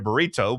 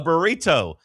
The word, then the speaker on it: burrito: It's a T, not a D. You're saying it with a D.